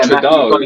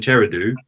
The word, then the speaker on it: Trudeau: It's Trudeau. It's Trudeau. That's how you pronounce it.